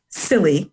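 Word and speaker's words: SIYLI: The acronym is silly, and it actually is pronounced that way intentionally.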